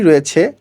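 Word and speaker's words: ر: খেয়াল করুন সুপ্রিয় শিক্ষার্থীবৃন্দ, এখানে র উচ্চারণ করার সময় আপনাকে মোটা করে বলতে হবে র।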